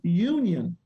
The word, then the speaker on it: Younion: And the name of that brand is called Union Student Housing. But here's the thing. It's spelled Younion.